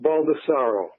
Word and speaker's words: Baldassaro: new bull ed money I'm tell Robert it's pronounced Baldassare o baldesarra excuse me right and I was a